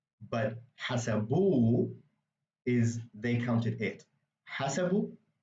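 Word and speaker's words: حسبوا: So when it's put at the very end of the word, like as a suffix after a vowel, what you're going to do is you're going to emphasize the last syllable. That vowel is going to be like the emphasized part of the word. Normally, it would be a different part of the word. So hasabu is they counted, but hasabu is they counted it.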